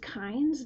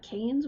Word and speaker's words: Kynes: Oh, it's pronounced Kynes, not Canes? What the hell? Fuck that, it's Kane.